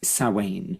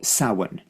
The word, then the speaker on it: Samhain: name and that is sa it's actually spelled Samhain but pronounced SA or saan depending upon what part of the country you come from really it is a